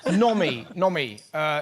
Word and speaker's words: Nomi: Nomi. Is it not, am I pronouncing that right?